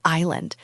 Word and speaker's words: island: The word island. There is a silent s in there that drives me crazy.